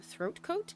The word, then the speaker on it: Throat Coat: I finally decided to buy throat coat. I have to really emphasize that when I pronounce it to make sure I enunciate correctly that it is throat coat, not with a G.